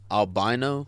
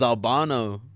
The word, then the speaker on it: Albano: Albino? Albano. No, it was Albano.